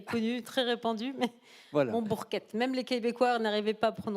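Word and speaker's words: Monbourquette: Il s'appelle Jean Montbourquette. Oui, il n'y a pas de T, là, vous voyez, mais c'est comme ça. Sinon, c'est cette prononciation bizarre.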